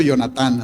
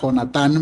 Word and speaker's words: Jonatán: Entonces se levanta Jonatán, que déjenme les digo, yo lo pronuncio Jonatán, así es que yo sé que lo correcto es pronunciarlo con J, Jonatán, ¿verdad? Pero aquí en la frontera tenemos el nombre Jonatán y se me hace más fácil, ¿verdad?